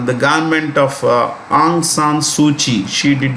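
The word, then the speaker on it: Suu Kyi: president of the country suchi pronounced this k is pronounced with the c suchi is married to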